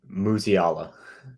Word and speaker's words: Musiala: we have a Jamal how do you say his last name musiala thank you Jamal musiala psa9 2020